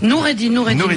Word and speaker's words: Noureddine: Ouais, mais dites Noureddine, parce que moi... Noureddine. J'ai toujours prononcé comme ça.